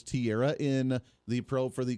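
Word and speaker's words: Teixeira: Jack Tierra. Is that how they're pronouncing it? It looks like TX Sierra, but I believe it's Tierra in the probe for the classified document leaks.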